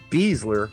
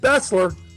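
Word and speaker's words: Besler: show when vessler i.e beasler was out there playing for skc i said yes i said bessler and i'm sticking to it because that's how it's pronounced in germany anyhow just own it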